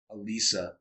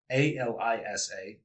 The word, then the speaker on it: Alisa: My sister, Alisa, Alisa, 3 syllables, pretty easy, but every pronunciation under the sun.